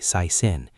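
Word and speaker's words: สายสิญจน์: Sai sin in some cases. Phonetically sai sin, the sacred thread monks tie around your wrist for blessings.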